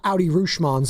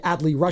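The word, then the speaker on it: Adley Rutschman: Right, shout out Audi Rushmans of the world, as Bonte Hill trying to say Adley Rushman.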